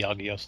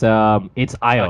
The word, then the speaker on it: Agios: It's Ios, okay, actually. Ios. Oh, it's pronounced Ios in Japanese, but that doesn't really mean that much. But yeah, it's written as Agios it's like a silent G then.